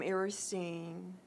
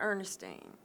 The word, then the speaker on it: Eristine: I'm aristine hunna my name is spelled EA R is t EI n9 Ernestine but aristine ok I am a